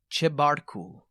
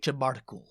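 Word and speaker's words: Chebarkul: i get the name right lake shera chair chebartku lake chabartical it's a very beautiful looking place i'm kind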